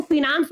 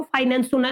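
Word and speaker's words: finance: अब मैं इसको फिनांस बोलूंगा, that is depending upon the pronunciation. हो सकता है आप लोगों को फाइनेंस सुनाई दिया हो, या आप लोगों के टीचर फाइनेंस शब्द इस्तेमाल करते हो। मैं इसको सही तरीके से प्रोनाउंस करूंगा तो ये होता है आपका फिनांस।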